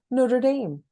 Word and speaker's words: Notre Dame: I mean, I'm just back from a writing residency, Notre Dame, if I pronounced that right.